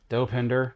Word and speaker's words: Dopinder: blind Al doping doping do how do you pronounce his name the cab driver I have dopinder oh dopinder Colossus Nega Sonic yukoh and then Buck and